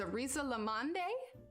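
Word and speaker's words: risalamande: danish rice pudding and i'm probably pronouncing it wrong but it's arisa lamonde pretty sure that's prince but it's r-i-s-a-l-a-m-a-n-d-e that is that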